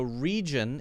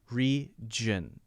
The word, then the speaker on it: region: anyway yeah that's the answer how do you pronounce region and reason ah that's a good question so region is Jia is a Jess sound and reason